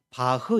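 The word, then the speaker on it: Bach: 독일 발음으로는 바흐 이렇게 발음하기도 하는데 우리에게는 바하로 많이 알려져 있죠.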